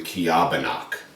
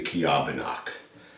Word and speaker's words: Ceobanach: so this is the I believe this is pronounced the kabano however if we were to pronounce it the way it's spelled it' be the cach but I believe it's the kabak we do not have